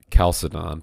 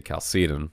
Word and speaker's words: Chalcedon: I know most of us talk about the Council of Chalcedon, but whenever anyone talks about the organization that Rushdoony founded, people say Chalcedon, which I'm not going to quibble about pronunciation, but Mark does a lot of good stuff.